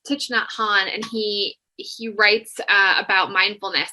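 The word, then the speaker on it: Thích Nhất Hạnh: But I agree with you, and really some of like Tich, gosh, I always mispronounce his name, but it's Thich Nhat Hanh, and he writes about mindfulness, and he has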